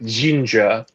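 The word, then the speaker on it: Zsinj: Like, I get Courtship of Princess Leia because it caps off the Zinja plot line from sorry, I'm pronouncing it like how the audiobook does now. Zinj? Yeah, no, they pronounce it like Jinja.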